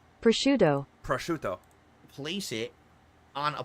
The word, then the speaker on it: prosciutto: When it's actually Prosciutto.